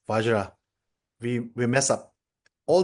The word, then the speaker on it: vajra: So Tibetans cannot pronounce vajra. We we mess up all the vajra. We we recite as benzah benzah benzah benza benza.